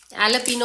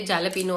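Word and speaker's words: jalapeño: अब भाई हमें नहीं पता इसका क्या होता है, एलोपिनो होता है, लिखते जालपिनो है, जो भी है, पर प्रोनाउंसिएशन के रूल्स हैं तो हम फॉलो कर रहे हैं।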